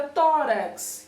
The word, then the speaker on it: tórax: Na palavra tórax, que inclusive temos ali a presença de um acento agudo, a sílaba tó é mais forte do que a sílaba rax.